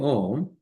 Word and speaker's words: Om: need to understand that Om has three syllables. Okay, three components to it. What is that? A, U, and Ma. A is the beginning, U is the high pitch, and M is merging back.